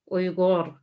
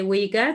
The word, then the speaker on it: Uyghur: uh because of ray we have oigor but i know a lot of people say uyghur that's fine and the oils are